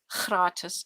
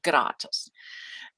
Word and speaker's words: gratis: like gratis and kharatas in afrikaans free is khratus and in german it's a hard g so it's gratus and so sometimes i'm